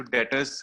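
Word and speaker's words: debtors: बताया था कि डेटर्स, DEBTOR, इसमें टी साइलेंट है, तो डेटर्स हम इसको कहेंगे।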